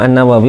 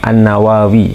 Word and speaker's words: an-Nawawi: itu ya Al Imam annawawi Rahimah Al Imam azzahabi rahimahullahu taala menyatakan annawawiyu beliau ditulis di sini Annawa ya annawawi gitu ya itu ada dua lafaz pengucapan ada annawawi ada an-nawawi n di